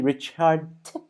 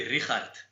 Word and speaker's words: Richardt: pronouncing it right like is it supposed to be rich hard or is it no it's it's it's supposed to be rihat oh okay yeah yeah